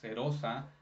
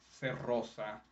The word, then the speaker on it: serosa: It's supposed to be a soft R, serosa, not cerrosa, which reminds me of a Harry Potter.